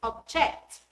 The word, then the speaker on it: object: answer in B is object the underline word is a verb therefore the stress falls on the second syllable now five your answers